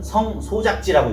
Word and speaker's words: 성소작지: 제가 잘못 읽었어요. 정확히는 성소작지라고 읽어야 되는 거죠. 한번 이렇게 여기서 끊어줘야 돼요. 성소작지.